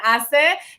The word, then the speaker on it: HACE: morning with cafesito con hace right you got to make sure you pronounce the h right he is the founder